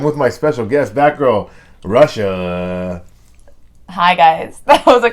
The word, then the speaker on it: Rasha: plans on the list it's because it's Arabic and it's pronounced Russia and so when like